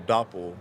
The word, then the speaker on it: Doppel: Which is funny because some people will mispronounce it without catching the whole Doppel like dopel or something or That's it.